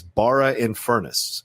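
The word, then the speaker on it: Barrow-in-Furness: dom he's uh emailing us from england says bara in furnace is how you say that city he is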